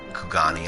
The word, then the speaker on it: Kugani: Kugani, I think it's called. It's a castle in Stormblood. I totally called it Q-Gain for like ever.